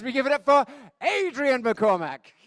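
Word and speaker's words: Adrian McCormick: over again as we give it up for Adrien McCormack. Thank you, Desmond. It's really nice that someone's pronounced my name correctly actually because I live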